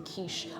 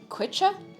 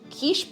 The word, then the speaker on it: quiche: I had issues pronouncing kich yeah I'm not surprised like it is one of those words you look at it and you try to say it phonetically you're like qua qua boards kich boards you know pertino